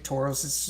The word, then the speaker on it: Tauros: rgb tauros um or how how how is the what's the proper way to say that uh edson uh teach me how to to say the team name rgb octoros or rgb tauros it's correct okay i always mess up